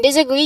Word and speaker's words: disagree: In disagree you emphasize the last syllable too. But uh you emphasize on agree.